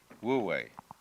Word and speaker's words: Wu Wei: And then with this character, this is pronounced, this one is Wu, and this one is Wei, Wu Wei.